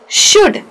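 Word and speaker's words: should: ध्यान से देखिए जो मैंने अंडरलाइन किया है वो है छोटा ऊ। ब उ क बुक श ओ ड शुड ये हो गया छोटा ऊ।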